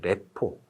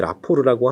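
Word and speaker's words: rapport: 이게 사실 여기 T가 있는데 왜 라포르라고 하나요? 라고 하면 이게 프랑스어라서 그래요. 프랑스어는 맨 마지막에 오는 자음 발음이 묵음 처리가 되죠. 그래서 라포르라고 합니다.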